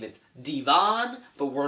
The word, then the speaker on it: Devin: There's a hot aunt that happens to date the assistant principal named Devin, who claims his name is Devon, but we're not buying it because it's spelled Devin.